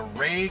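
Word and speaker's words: Wray: down out of denver all the way to ray colorado ray did you say we went to ray yes but it was spelled with a w excellent all right w excellent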